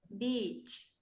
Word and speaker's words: beach: ¿Y cómo se pronuncia entonces sonriendo? Beach. Peach, exactamente, sonría.